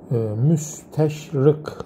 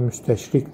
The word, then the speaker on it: müsteşrik: Müsteşrık arkadaşlar, müsteşrık. Müs, bunun telaffuzunu doğru yapmak lazım. Müsteşrık. Müsteşrık. Şarkiyatçı arkadaşlar. Şark bilimcisi demektir. Bunu ince telaffuz edersek K'yi ön damakla müsteşrik dersek o şirkten geliyor.